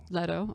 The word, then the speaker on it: Leto: one yeah and then the third was it's pronounced let Leto okay J Jared Leto one excuse me and